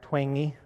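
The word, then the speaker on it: Twenge: seen this book igen by a professor dr twangy is how it's pronounced she's written this book called igen have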